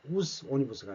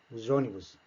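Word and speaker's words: os ônibus: 이게 모음과 모음 사이에 놓이는 형태가 되느냐, 그런 경우는 z 발음을 해줘야 합니다. 그래서 우조니부스가 되는 겁니다. 우스 오니부스가 아니고 우조니부스.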